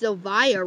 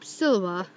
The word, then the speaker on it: Siliva: If you know why I'm saying wink, wink after saying Jacob Siliva, because I actually pronounced Siliva wrong. It's actually because of my last episode, I actually said Jacob Siliva, when it's actually Jacob Siliva.